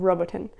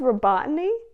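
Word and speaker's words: Robotyne: east of Ukraine called roboton I don't care how that town is actually pronounced I'm calling it roboton because it sounds cool the village of robotin wow it's actual name is robotany okay that's cool I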